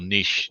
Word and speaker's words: niche: the concepts focus on niche or niche niche however they say in america slightly different pronunciation exactly the same concept